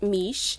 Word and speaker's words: Miche: package with their products and it's the brand mish it's pronounced miche and i'm sure you guys have heard about